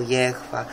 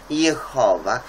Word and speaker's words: Jehowa: No to więc niektórzy mówią Jehwa, Jahwe, ale to trzeba mówić tak, jak jest przyjęte w danym języku i koniec, sprawka zamknięta. Jehowa jest przyjęte, a tyle tylko, że linia mysia się wściekała.